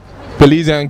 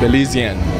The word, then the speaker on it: Belizean: All right, we're backstage at Miss Belize California Pageant with Belize and Cuties dance group.